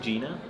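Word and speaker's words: Jena: I think Gina. Yeah, but you say it like it's a facility. You say it in like almost Arabic. You say Jenna.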